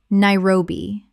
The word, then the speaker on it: Nairobi: Hi-ma-lay-as Himalayas Word 118: Nairobi Common mispronunciation: Na-i-ro-bi Correct pronunciation: Na-i-ro-bi Three syllables with the stress on the second. Example: Nairobi is one of the most dynamic and rapidly growing cities on the African continent.